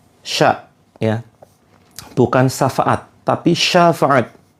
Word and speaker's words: syafaat: ya bukan syafaat tapi syafaat ya pakai syin bukan pakai Sin Sya Syafaat karena kalau kita mengucapkan